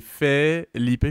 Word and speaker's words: Felipe: Puis je suis comme, non, tu sais, c'est pas PHI, c'est Philippe, parce que tu sais, le E en espagnol, c'est E, fait que tu sais, c'est F-E, puis là, tu le prononces, fait que c'est Felipe, fait que F-E-L-I-P-E, puis